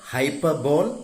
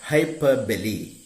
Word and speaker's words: hyperbole: We term it hyperbole in poetry, not its pronunciation, not hyperbole, but hyperbole.